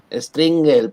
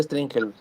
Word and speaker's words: Stringel: Pues originalmente se pronuncia, perdón, Stringel, pero es válido decir Stringel. O sea, con la pronunciación española, pero es apellido alemán.